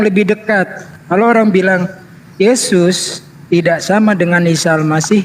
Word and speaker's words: Yesus: Bahasa Belanda huruf J dibacanya Y. Jadi Yesus dibacanya Yesus. Ini sejarahnya nih ya. Udah tampak kan mana yang lebih dekat. Kalau orang bilang Yesus tidak sama dengan Isa